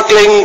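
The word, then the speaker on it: क्लीं: तो इसका उच्चारण होगा क्लिंग गह, पीछे गह की ध्वनि निकलेगी, क्लिंग क्लिंग क्लिंग।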